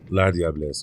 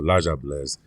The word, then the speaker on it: La Diablesse: La Diablesse or La Diablesse, depending on where you are from in the Caribbean, is how you pronounce her.